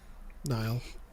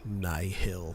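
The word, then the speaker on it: Nihil: let me know like is it nle or Niel Nile Nile okay there there are some narrators that like to go Nill but it's yeah it's NY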